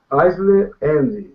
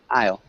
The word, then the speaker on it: aisle: is in the aisle eisley the only small thing i o it's pronounced i i i okay yeah aisle um good that sounded